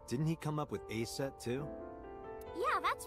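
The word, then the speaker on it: Aset: it oh yeah didn't he come up with a set too yeah that's right that name is rooted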